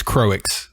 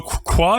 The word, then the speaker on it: Croix: I wish her name was how I want to pronounce it, which is Croix. I think it's a better name. So Qua is just the French word for cross.